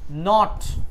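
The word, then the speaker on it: knot: নট এই এই শব্দের শুরুতে যখন কে থাকে সেই কে এর উচ্চারণ হয় না। তো এখন এই নট মানে কি?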